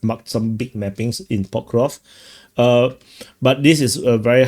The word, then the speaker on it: Pokrovsk: A lot of people very angry with me not pronouncing the SK. Pokrovsk.